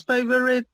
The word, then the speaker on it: favorite: This only has 2 syllables. Favorite. Favorite. We don't have to pronounce the O.